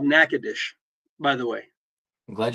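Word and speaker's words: Nacogdoches: That's called Nacadesh, by the way. I'm glad you pronounced it. It's Nackadesh.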